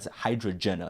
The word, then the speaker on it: Hydrajenah: he even announced it hydrogena I'm like that's not wrong that's like I I never really thought about pronouncing it but hydrogena that's how you're supposed to say it but I say Jenna